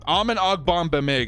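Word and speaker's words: Amen Ogbongbemiga: man's name uh okay let's say it together with me all right amen we're doing it Dora the Explorer style almond ogbong bad Mega almond ogbamega undrafted a rookie for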